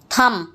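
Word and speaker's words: thumb: Crumbs, थम, इसमें B silent रहेगा।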